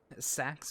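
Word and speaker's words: Saxe: Sax with an E. So, like a silent E at the end.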